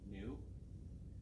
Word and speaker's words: nu: lowercase Greek letter n it's pronounced new this stands for the